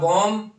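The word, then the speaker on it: bomb: धमाके से फट गया अब बम एम के बाद जब बी आ जाए तो बी साइलेंट हो जाता है जैसे कॉलम हो गया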